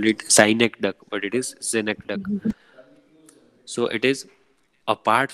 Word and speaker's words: synecdoche: Next is synecdoche. How do you pronounce? Synecdoche. Synecdoche. Some people call it synecdoche, but it is not ducky.